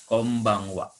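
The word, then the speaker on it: こんばんは: dengan huruf H jadi ditulisnya konban hak tapi dibacanya Kombang Wa lalu kalau n menghadapi B ini cenderung bunyinya m n ini aja didewasakan Kombang Wa ya Kombang Wa nya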